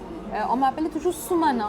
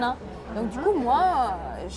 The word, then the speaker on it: Shumona: When I came to France, people always called me "Sumana" and I had to correct them with "Shumona."